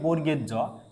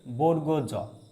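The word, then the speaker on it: বর্গীয় জ: উকে এই বর্ণটিকে আমরা বলি বর্গের জ কিন্তু এটার সঠিক উচ্চারণ হচ্ছে বর্গজ।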